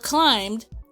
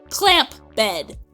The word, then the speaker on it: climbed: I don't know if you guys ever read the word climbed, but there's a stupid letter B in it. Why? So, when I go to pronounce the word, I say clamp bed.